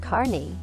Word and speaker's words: Kearney: Kearney Nebraska perney pronounced Carney is one of the best places to see